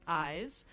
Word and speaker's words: Ayes: That one is pronounced like eyes, just like the word for what you see with.